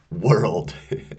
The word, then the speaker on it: world: World, right? Incidentally, world is one of the most difficult words to pronounce. World. You really have to w really extend your lips.